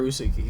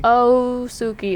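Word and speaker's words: Ōsuki: But Osuki or Usuki? Osuki. It's like 2 syllables.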